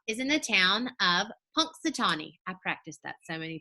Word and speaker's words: Punxsutawney: in the town of Punxsutawney I practiced that so many times before this video it's got a little pronunciation in those brackets it says punks duh tall knee Punxsutawney Pennsylvania there's a